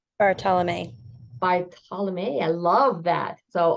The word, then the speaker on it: Bartolomei: Bartholomei? Bartolomei. Bartolomei. I love that. So, always pronouncing correctly is a good thing.